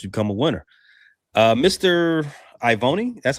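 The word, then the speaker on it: Ioane: Ivoni, that's how you say his name, out of Penn State. I own it. You guys pronounce every vowel in Ione. Polynesian. Yeah. Ione.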